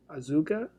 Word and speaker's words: Asuka: japanese goth babe ahsoka us gosh man azuka azuka that's how you pronounce it asuka azuka uh she's my fav